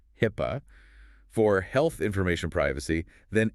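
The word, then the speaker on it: HIPAA: Before your organization is pawned, specifically mentions HIPPO, pronounced HIPPA for health information privacy, then NYDFS, which is the New York Department of Financial Services Regulations, particularly tough ones.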